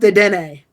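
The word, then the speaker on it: Dedenne: i'm so glad also zorro you're wrong it's pronounced de dene no yes so sable i i have no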